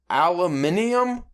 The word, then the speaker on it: aluminium: away from this is, did you know British people pronounce it aluminum? Did you ever hear them pronounce aluminum? I can't even do it. Aluminum? No. Aluminium? I think they pronounce it. Aluminium? Something weird.